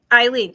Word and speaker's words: Eileen: Is it Ellen or Aline? I know, that I can say, but I may be saying Ellen when it's Eileen.